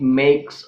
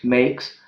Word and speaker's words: make: what is that purpose when a silent e occurs at the end of a word the vowel before it makes a long sound the vowel before it makes a long sound well